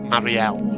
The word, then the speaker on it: Mariel: The Legend of Luke, Mariel of Redwall, or Marielle, as it technically is supposed to be pronounced.